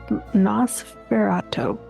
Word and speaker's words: Nosferatu: about the, I'm going to butcher this word, Nosferatu.